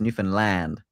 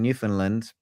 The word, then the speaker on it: Newfoundland: It's Newfoundland. Okay, I, Newfoundland. I've been saying Newfoundland because I think that's kind of how the Brits say it, but they don't like it pronounced that way apparently.